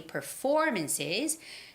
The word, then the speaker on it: performances: comedy comedy performances comedy performances now when it comes to words comedy or performances you have to make sure that you're making the right stress it's comedy comedy comedy and performances performances performances so it's comedy performances